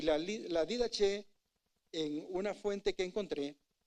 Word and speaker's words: Didaché: He mencionado personajes ahorita, hermano Luis les habló hace poco de la didque, didaché, didajé, pronúncielo como quiera, ¿verdad? Yo digo didaché porque así se escribe, pero yo sé que hay algunas formas.